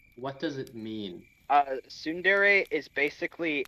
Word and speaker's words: tsundere: relationship like uh wait sorry everyone's favorite what tsundere that's how you say it oh i know